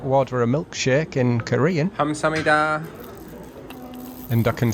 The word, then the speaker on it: 감사합니다: 감사합니다.